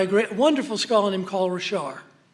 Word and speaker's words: Richard: And it's by a wonderful scholar named Paul Richard. And it's spelled Richard, but he's a Cajun, and he, like the French, leave off the last letter.